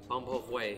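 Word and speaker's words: bún bò Huế: I know you just learned to pronounce this recently, Marco. Bun bo huay.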